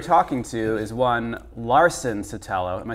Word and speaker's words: Sotelo: They never pronounce it correctly. Yeah. Well, that's because they're racist. Yeah, exactly. clearly. It's pretty easy, Sotelo.